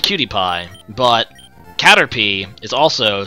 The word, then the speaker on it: Caterpie: So, wait, you call Caterpie Cater pie? Cuz it's definitely Caterpie, not Caterpie.